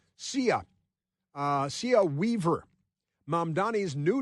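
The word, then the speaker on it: Cea: It's it's spelled letter C, letter E, letter A. CIA.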